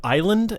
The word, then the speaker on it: Islay: That spelled Islay? Islay. Oh, you pronounce it Isla? It's pronounced Isla.